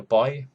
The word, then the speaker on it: Boii: The Boii, I think you pronounce it Boii or Boy. I'll go with Boii.